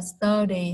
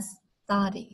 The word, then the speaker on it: study: Không phải là study ha, không phải ơ nha. Nó là study, study.